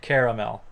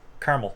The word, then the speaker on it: caramel: say has three syllables and sounds something like caramel but in Cape Breton